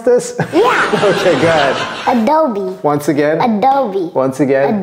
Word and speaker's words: Adobe: do we Cody do you know how to pronounce this yeah okay go ahead Adobe once again Adobe once again Adobe beautifulob okay